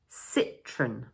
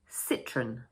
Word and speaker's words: Citroën: one, we say: "Run" The stress falls on the first syllable. Cit-roën So in full, we say: Citroën Citroën And another French